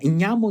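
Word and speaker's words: jammo: Nhamo, nhamo, nhamo, nhamo, que parece uma onomatopeia, andiamo, andiamo, andiamo. Tipo, em italiano, né? Mas nhamo é como se fala andiamo em napolitano.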